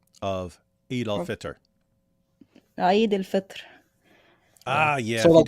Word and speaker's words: Eid al-Fitr: So hey, give us the perfect Arabic pronunciation of Eid al-Fitr. Eid al-Fitr.